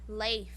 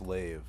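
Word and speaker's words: Leif: he was a viking leaf yeah yeah no i thought it was no it was leaf it was leafy wait well ellie i it's pronounced lave but what about them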